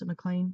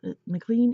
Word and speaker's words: MacLean: one by Sarah MacLean I would pronounce in a claim but I think everybody else pronounces McLean and this is for